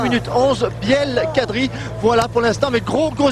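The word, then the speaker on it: Blel Kadri: Alors puisqu'on en est à soigner les prononciations, on va dire Biel Kadri. Biel Kadri. Parce que sinon on va lui faire couler une bielle avant l'heure. Hein. Biel Kadri. C'est pas Biel, c'est Biel, ouais.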